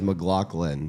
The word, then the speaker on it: McLaughlin: I think the right way is McLaughlin. McLaughlin. But everybody in the Always South says McLaughlin.